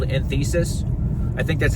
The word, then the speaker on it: enthesis: how you pronounce it's e n t h e s i s enthesis I think is what it's called enthesis I don't know I've just read it I've never heard it pronounced so but it's inflammation